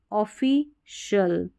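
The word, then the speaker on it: official: तो सी आई एल इसको शल पढ़ना है क्योंकि जो सी आई है ना इसका श उच्चारण है श तो देखिए स्पै शल सो शल ओफी शल क्रू शल [नाक से की जाने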